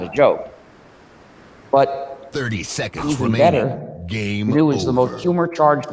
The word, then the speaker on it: GNU: gnu as a joke the new which is spelled gnu is a recursive acronym